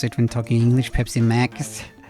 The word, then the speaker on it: Pepsi Max: it when talking English Pepsi Max Pepsi mugs like Pepsi Max would be the Norwegian pronunciation but I guess it's like as in maximum Pepsi maxes at Rickson